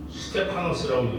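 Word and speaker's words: Στέφανος: 네, 헬라어로 이렇게 쓰고 스테파노스라고 읽으시면 돼요.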